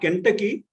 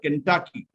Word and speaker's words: Kentucky: familiar right yes yeah it is not kentucky it is the accent is on the second syllable it is called kentucky kentucky is a state